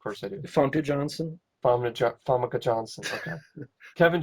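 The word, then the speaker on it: Famke Janssen: It starred Treat Williams and Famke Janassan. Also had I probably said her name wrong. Of course I do. Funke Johnson. Famke Johnson.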